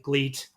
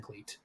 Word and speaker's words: GLEAT: show and you're like they say great constantly i'm like yes they do that's what they're saying but you know it's spelled like gleet it's the most fun